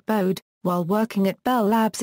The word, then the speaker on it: Bode: gain plot and bow phase plot bow is pronounced BD the magnitude axis of the bowed plot is